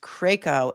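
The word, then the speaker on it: Krajko: K R A G K R A J K O is pronounced KCO and it's a Croatian name and they were in on vacation in Croatia and Allayan might also be a Croatian name.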